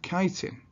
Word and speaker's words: chitin: fungi cells, which have cell walls made of chitin, or chitin as it's spelt.